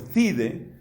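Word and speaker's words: Thiede: papiro más antiguo es el 7Q5, datado por Thide. Thide se escribe T-H-I-E-D-E, por Thide, del año 50.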